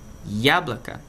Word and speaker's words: яблоко: Então nesse caso aqui, яблоко, a sílaba tônica está no ya.